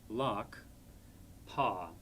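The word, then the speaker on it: ལག་པ: So this word again would be spelled la, ga, lak, pa, lakpa, hand.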